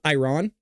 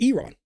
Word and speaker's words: Iran: It's like when I say um Iran. You could say it that way, but it's Iron.